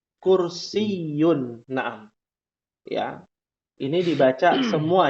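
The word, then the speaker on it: كرسيّ: Ya, di akhir ada tasydid. Kursiyun.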